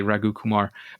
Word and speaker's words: Raghu Kumar: Raghu, you're probably going to correct me for saying your name terribly, Raghu Kumar.